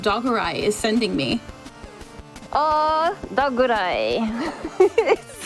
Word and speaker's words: Dogurai: Also, I need AirAngel to know that her flawless pronunciation of Dogurai is sending me. Oh, Dogurai.